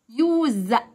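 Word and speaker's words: use: يوز يستخدم، الاس هنا حرف الزد.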